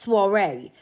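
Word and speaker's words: soirée: It's pronounced soiree.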